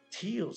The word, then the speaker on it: Teals: Teals, sí, lo pronuncio como Tales de Sonic.